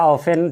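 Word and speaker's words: often: everybody ध्यान रखेंगे यह ओ एफ टी एन को ऑफ पढ़ेंगे ऑफ या ऑफेन चल सकता है लेकिन ऑफ्टन नहीं टी साइलेंट होता है है ना वी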